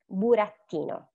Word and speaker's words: burattino: Like, so most Italian words stress the next to the last syllable. And we have, for example, burattino, lavorare. For example, and here you see that the letter that we have to stress is the one that I put in bold, is the E in burattino. Burattino. Lavorare. So you hear like the stress goes there.